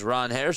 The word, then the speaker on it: Ranger: who also says that the p the correct pronunciation is Ron Harris Suarez. It's really how you're supposed to say it, but he said that both are fine.